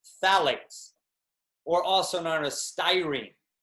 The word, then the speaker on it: phthalates: is something called phthalates the ph is silent so it's phthalates or also known as